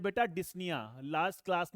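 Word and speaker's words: dyspnea: क्या बोलते हैं बेटा, डिस्निया। लास्ट क्लास में मैंने आपको बताया था। ठीक है, डिस्पनिया नहीं है बेटा, यहां पर क्या है, पी साइलेंट है, इस चीज को मैंने पहले ही आपको बता रखा है।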